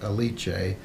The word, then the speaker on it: Alice: the leech a which I think we were pronouncing it wrong before because we only realized them the last episode but everyone was addressing her as a leech a oh he's paying way